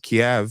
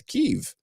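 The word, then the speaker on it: Kyiv: K because if I if I'm remembering the rationale correctly Kev is the Russian pronunciation God and keev is the Ukrainian pronunciation right is there that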